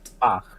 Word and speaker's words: Bach: Bach, is that how you pronounce it? Bach is great. Bach, yeah, Bach.